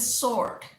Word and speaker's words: sword: इट इज स्वॉर्ड, स्वॉर्ड, नॉट स्वॉर्ड।